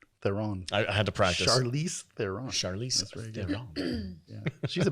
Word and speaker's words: Charlize Theron: Mad Max Fury Road, starring Tom Hardy and Charlize Theron.